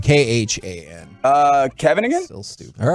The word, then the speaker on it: Khan: the name king kong it's not no it's khan not kong you're saying it wrong but you know what